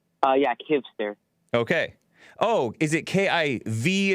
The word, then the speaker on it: Kivster: Kivster, am I pronouncing it right? Yeah, Kivster. Okay. Oh, is it K-I-V as in Victor? Yeah, V. Okay, Kivster.